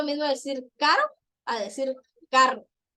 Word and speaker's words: carro: Por ejemplo, si dice carro, voy a decir carro, no decir carro. No, hay personas que no pueden pronunciar bien la doble R.